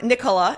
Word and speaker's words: Nikkola: I'm thrilled to uh announce my next guest, Tom Nicola. Am I pronouncing that right, Tom?